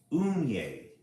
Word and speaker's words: Unhei: It's spelled Unhei. It's pronounced Unye.